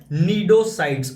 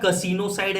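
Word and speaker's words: cnidocyte: नाम ही बताता है कि ये लोग कैरी करते हैं नीडोसाइड्स, है ना। स्पेलिंग से कंफ्यूज मत होना, कसिनोसाइड नहीं है या सीनोसाइड नहीं है, ये है नीडोसाइड, इसमें सी साइलेंट होता है भाई, ठीक है।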